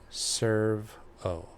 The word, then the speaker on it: servo: Servo, pronounced serve-o.